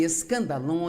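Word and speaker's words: σκάνδαλον: A palavra ofensa vem de uma palavra grega, pronuncia-se escandalon, e é, na verdade, a parte da armadilha onde você pendura a isca que vai atrair o animal e permitir capturá-lo.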